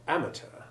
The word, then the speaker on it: amateur: The word amateur, however, has been anglicised. The stress has moved from the last syllable to the first, and the EUR ending has the short E2 sound.